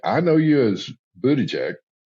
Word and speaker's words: Buttigieg: You're actually both wrong. Oh my gosh. There we go. It's pronounced Buttigieg, but it's now.